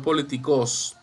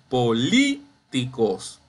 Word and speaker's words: políticos: va a tener tilde aquí tenemos políticos no políticos ni políticos es políticos bien identifique la sílaba tónica es la lee ahora bien yo ubico